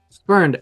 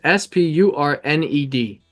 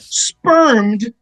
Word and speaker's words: spurned: me one more time spurned s p u r n e d spurned not spermed no I never said